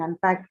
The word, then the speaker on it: unpack: In unpack, the stress is on, not on un, right? It's on the second syllable.